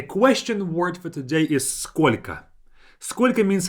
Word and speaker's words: сколько: We say сколько тебе лет. Сколько тебе лет. And notice that сколько, the last O is pronounced as A.